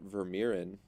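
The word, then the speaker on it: Vermeeren: Belgian Center mid from uh Royal ANP Arthur verin it's how you pronounce it yeah ver yes sir uh this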